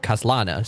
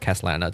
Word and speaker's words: Kaslana: they still call it Kaslana. So it's still pronounced the same way in English at least.